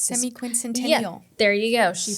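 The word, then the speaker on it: semiquincentennial: It's Semi-quincentennial. Yeah, there you go. She pronounced it for us.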